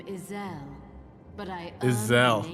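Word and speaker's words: Ysayle: who I am I was given the name Isel but I ear name ice heart I'm glad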